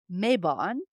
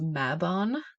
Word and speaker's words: Mabon: it which is well let's talk about the pronunciation here so I've always heard it called mabon which is the fall equinox Autumn Equinox here